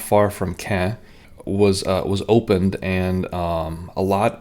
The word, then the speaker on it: Caen: Caen, spelled C-A-E-N, rhymes with Lopin.